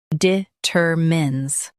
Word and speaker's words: determines: Both US and UK have the same pronunciation of this word, determines. Now read the syllables shown on the screen naturally. De, ter, mins, determines. Emphasize ter and keep mins soft.